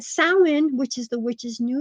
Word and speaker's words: Samhain: the thinnest on Samhain, which people pronounce Samhain. That's wrong. But Samhain, which is the witch's New Year's, October 31st.